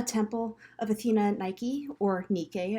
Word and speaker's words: Nike: of athenian nike uh nike adjusting her sandal so this is the a temple of athena nike or nikkei as it's pronounced in ancient greek so this is at